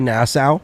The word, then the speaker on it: Nassau: and you say nassau yeah nassau nassau national i like that though how do you spell that n-a-s-s-a-u okay so like bahamas yeah like